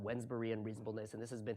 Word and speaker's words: Wednesbury: It's it's spelled like with a D in there, like Wednesday, but it's Wednesbury reasonableness.